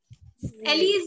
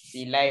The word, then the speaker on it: Eli: Ellie's name. Ma'am, it's actually Eli. What? Eli, ma'am. Eli, not Ellie.